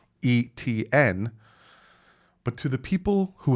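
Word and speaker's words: Etienne: so no i haven't really ever heard travis etn's last name so me being dyslexic growing up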